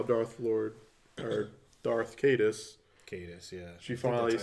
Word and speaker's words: Caedus: Caedus, yeah. She finally, that's how you pronounce it.